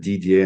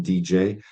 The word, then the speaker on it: Didier: in the right way for most of my American friends I need to stop it at DDA and say it's like written DJ because that's as far